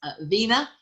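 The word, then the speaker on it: Wegner: is hans wagner so v w and no g so it's pronounced vena and he died relatively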